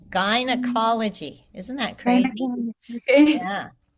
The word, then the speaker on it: gynecology: don't know if in British English they say it differently, but we say guy like a guy, a person, a man. It's the And same gynecology? pronunciation. Gynecology.